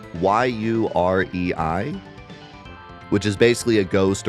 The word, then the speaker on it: yurei: and you guys can help me with the pronunciation, yurei, y u r e i, which is basically a ghost or lingering spirit, and uh usually they will appear with will-o'-the-wisps.